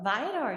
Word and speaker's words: Viator: She also creates content for tourism boards and brands, including dream job assignments for Bumble and, how do you pronounce that, Viator? Viator, yeah.